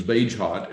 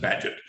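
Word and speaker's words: Bagehot: at that but you might think it was beige hot and they pronounced it paget but badget's rule was that the role of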